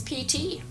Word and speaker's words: Piti: I'm from Fargo, North Dakota, and this is Piti. Piti is 8. His name is a Pali word, meaning it's spelled P-I-T-I.